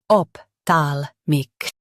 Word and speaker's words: ophthalmic: Ophthalmic, ophthalmic, ophthalmic, ophthalmic. Stress thal in both versions.